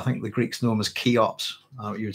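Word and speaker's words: Cheops: which has i think the greeks known as keyops you would spell that with it if you want to search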